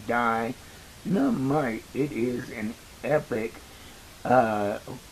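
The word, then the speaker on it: Dienamite: And if you notice, it's spelled D I E N A M I T E. Die Nite.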